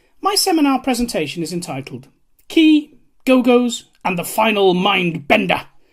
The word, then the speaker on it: Qee: from college this is a key pronounced key which is a vinyl